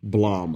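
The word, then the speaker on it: Blame!: blame bill yeah playboy so it spelled blame but in the trailer they pronounce it Blom okay in the Japanese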